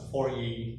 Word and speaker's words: Fourier: Okay, you pronounce this as a Fourier series.